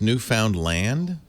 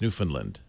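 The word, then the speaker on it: Newfoundland: out of me whoa ashery says it's pronounced new found land no newfinland land I think he said Newland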